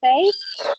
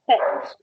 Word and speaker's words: said: So the correct pronunciation is not say, but set. You don't pronounce the A.